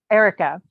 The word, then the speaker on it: Airica: Erica.